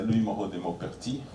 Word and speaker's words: Louis Moreau de Maupertuis: For example, this guy, Louis Moreau de Maupertuis, yes, that's how you pronounce this.